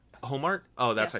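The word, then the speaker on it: Ohmart: Yeah, Carol Omar. Homart? Oh, that's Yeah. how you pronounce it.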